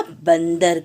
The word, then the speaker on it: बंदर: ये चित्र है बेटा बंदर का। कैसे लिखेंगे? देखिए, ब में अंग, द, र। और ये जो अंग की मात्रा का उच्चारण किस रूप में हम कर रहे हैं? आधे न के रूप में।